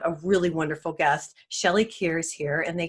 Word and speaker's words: Kaehr: don't know about Shelley and I it's pronounced care and I always take care so I apologize it's